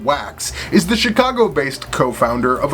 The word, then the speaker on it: Waks: Ken Wax, or as I prefer to pronounce it, Ken Wax, is the Chicago-based co-founder of a company called Foresight.